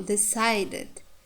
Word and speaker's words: decided: For example, decided, decided, sigh. Here we can see diphthong. Therefore, this syllable is stressed.